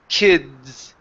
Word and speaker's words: kids: before the z okay because if you don't say that it sounds like kiss okay if that vibration doesn't come out before the that s sound it sounds like you're saying kiss and so here's the difference kiss kids okay and so I need